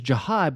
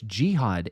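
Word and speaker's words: Jihaad: I thought it was Jahad, but then some people were saying, "No, it's Jihad." And I'm like I've heard both way like speaking of Jacob,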